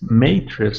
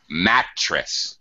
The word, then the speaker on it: mattress: left with I guess is it's Matrix the right pronunciations not quite mattress mattress ah okay mattress mattress M it's a mattress uh